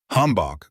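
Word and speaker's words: hanbok: Hanbach Korean pronounced hanbach.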